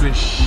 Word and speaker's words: Luis: Pronounced Louis. Yes, pronounced Louis. Louis. Or sometimes Louis, the S is silent.